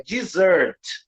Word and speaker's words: dessert: Observe que o primeiro, a sílaba tônica é a segunda, é dessert. Dessert. E tem 2 S's.